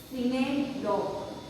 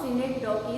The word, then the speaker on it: synecdoche: Let's see third one, that is synecdoche. Sometimes when you see in Google, pronunciation is synecdoche.